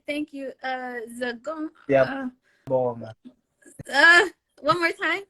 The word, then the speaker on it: Siyabonga: Siyabonga. One more time. Siyabonga.